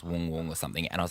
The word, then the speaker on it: Wang Wang: he's the panda Adela zo got to feed Wang Wang and then they're like it's not Wang Wang it's it's actually pronounced Wong Wong or something and I was like well he